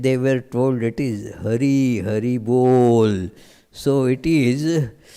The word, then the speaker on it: Hari: So when then they were told it is Hari, Hari Bol. So it is. In Bengali, the ha becomes also in pronunciations a bit ha. So horrible. So it is sounded very much like horrible.